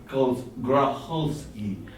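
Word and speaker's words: Grokholsky: Gracholsky.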